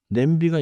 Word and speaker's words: 냄비: Pronounciation is simple here. B do not cut it too hard. Say it smoothly. Let me try. 좋아요. 냄비. Nice and smooth.